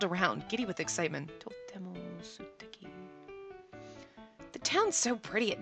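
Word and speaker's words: すてき: Steki is Suteki. Do you say this? Sometimes the U you don't pronounce when it's Su, so I'm not sure, but I've never actually heard the lovely before.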